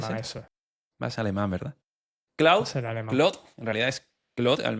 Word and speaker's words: Claude: ¿Tú cómo pronuncias Claude? Yo lo pronuncio Claude. Pero el otro día alguien me dijo Claudi.